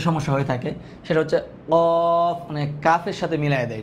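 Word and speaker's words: ق: হয়ে থাকে সেটা হচ্ছে কফ মানে কাফের সাথে মিলায়ে দেয় এটা এটা হবে কফ আর কাফ আলাদা কিন্তু কফ উচ্চারণটা কেমন হবে হচ্ছে কফ হ্যাঁ তারপরে এখানে আছে গোল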